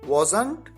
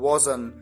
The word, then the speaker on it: wasn't: कर सकते हैं और इसे दो तरीके से प्रोनाउंस किया जाता है, wasn't या wasn't। यानी लास्ट में जो ट आता है चाहे तो उसे आप बोलें और चाहे तो आप उसे न बोलें।